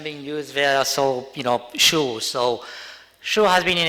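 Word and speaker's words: Shure: Okay, so just based on the comments from our previous speaker, so it's pronounced Shu.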